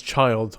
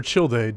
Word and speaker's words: Childe: up we have tartalia better known as child or childe depending on how you like to say his name expected to arrive on